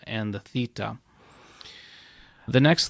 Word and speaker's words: Theta: meat then we have Theta and it's going to be pronounced like the th in thin now the Delta and